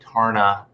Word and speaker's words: Tarna: You said it right, Tarna. It's got like 2 A's in it, doesn't it?